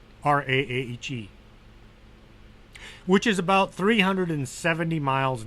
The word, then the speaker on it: Raahe: Well, Raahe. It's Finnish, so if you're Finnish, you know how it's pronounced, and if you're not, Raahe, which is about 370 miles north of Helsinki, the capital of Finland.